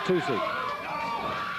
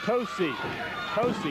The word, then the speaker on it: Tosi: Here's Tucci. Tosi. He asked me, he pronounced it with Tony Tosi. All right, Tosi then, David. If he pronounces it, that's what we're going to say, right?